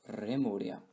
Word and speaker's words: Lemuria: According to one theory, Lemuria was originally pronounced Remuria.